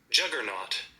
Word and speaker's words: juggernaut: And this is how it is pronounced. Juggernaut.